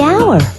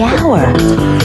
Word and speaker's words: hour: owner the animal the hour wait H is not a vow sound it's a consonant sound but it's not the first sound the H is silent the hour but what about the